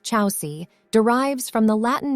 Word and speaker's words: Chausie: a good fit chauzy the name chazi pronounced Chelsea derives from the Latin